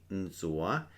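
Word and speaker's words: ntxuav: n t x u a v "nzoa" means to wash like to wash with you would wash your hands.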